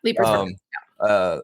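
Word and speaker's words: Leiper's Fork: Yep, Leapers Fork.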